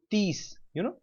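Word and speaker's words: तीस: Sine 30, if you pronounce this 30 in Hindi, Hindi, I know 30 in Hindi is what? Tees, this is Peace. sine tees, tees, right? In Yeah. Hindi 30 is tees.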